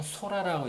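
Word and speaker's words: 空: 그리고 우리나라 그 일본 고유의 발음은 소라라고 있습니다.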